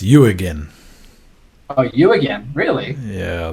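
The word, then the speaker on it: Jürgen: he's very particular oh sorry how am I mispronouncing it yeah it's you again oh you again really yeah that's how he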